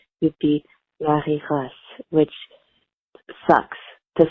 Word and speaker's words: Marie-Grace: in my American accent, I just call her Marie Grace or Marie Grace. I actually have an aunt, and her name is spelled like Marie, but we call her Mari. So I kind of use that same rule.